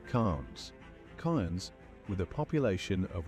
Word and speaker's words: Cairns: It's Cairns, it's not all those other things that he said.